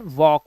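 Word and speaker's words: walk: And then वॉक। वॉक के अंदर L silent होता है। जस्ट बिकॉज़ क्योंकि यह के से पहले आया है। And there is a rule. के से पहले आया एल विल बी साइलेंट।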